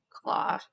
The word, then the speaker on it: Klaue: Claw. Claw, but it's spelled Yeah. like in a different way. Klaue, Yeah.